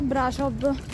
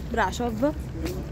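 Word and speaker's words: Brașov: mi ricordi i nomi Brasov che si pronuncia Brasov perché la s è quella strana e si pronuncia Brasov Quindi adesso ci facciamo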